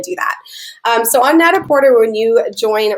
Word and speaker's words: Net-a-Porter: you guys today is Net-a-Porter. You can also pronounce it Net-a-Porter. I believe it's French, and that's the original technical way to say it, but it can be interchangeable, and I like Net-a-Porter.